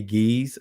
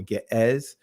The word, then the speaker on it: Ge'ez: Now, we do know if you understand ancient Hebrew and if you understand Ga'az, which is pronounced today Giz or Ge'ez, some would, pronounce it with the modern Amharic, right?